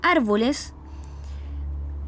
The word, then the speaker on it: árboles: Y el siguiente ejemplo, la palabra árboles, que lleva la marca tónica, la sílaba tónica y además una marca gráfica, ¿cierto?